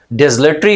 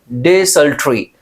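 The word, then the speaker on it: desultory: हैं, एड्रिफ्ट होते हैं, डिसलेटरी होते हैं। अब इसका प्रोनाउंसिएशन मैंने यहां पे दिया है बहुत, डिसल्ट्री। डिसल्ट्री याद रखना, क्या बोलेंगे? डिसल्ट्री, डिसल्ट्री। तो डिसल्ट्री इज द राइट प्रोनाउंसिएशन, बहुत इंपॉर्टेंट है, एग्जामिनेशंस में पूछा जाता है।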